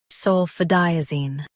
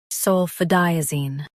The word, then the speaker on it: sulfadiazine: Sulfadiazine. Highlight di and keep zine soft.